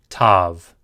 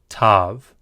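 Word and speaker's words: ת: And finally, tav. Tav. This is a T sound.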